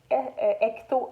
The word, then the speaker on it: hecto: Ensuite, c'est les hectomètres qu'on appelle hecto avec un H muet, d'où le H.